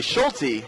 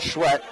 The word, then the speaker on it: Schulte: It's Emily Schulte, not Schwett, the 5'7" junior guard out of Sioux Falls, South Dakota.